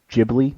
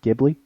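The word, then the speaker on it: Ghibli: at the wedding that it's jibli not gibli mhm I pronounce it how I want I didn't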